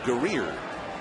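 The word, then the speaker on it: Guerrier: e e Matt gerrer is always what we were told was the pronunciation of his name now we being told it's gerer so he's the same pitcher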